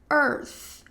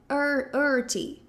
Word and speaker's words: Earth: Um erro comum aqui é talvez dizer earthy earthy, algo nesse sentido, tá? Eu sei que aqui a gente vai ter duas questões. A primeira é esse que é o começo da palavra, que vai ter o som de Pensa que você tá brava e fala calma. E o som de th no final que vai ter o som de th.